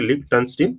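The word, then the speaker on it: Liechtenstein: इसको देखिए कैसे याद करना है आपको, लिक्टन स्टीन, जो कि 3 पार्ट में डिवाइड कर लीजिए। ये लिक टन स्टीन, इसको जो है कि ऐसे पढ़िए, लिक टन स्टीन, जो कि ये प्रोनाउंसिएशन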